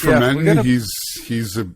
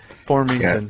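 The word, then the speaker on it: Formenton: But Shane Pinto, Alice Formanton, but Alex Fermenton, he's fast, Fermenton? man. He's Formington. Yeah, Well, that's how they're saying it on the telecast. Was it or whatever, Formington? Formington, yeah. Oh, okay. I've been saying it wrong all along.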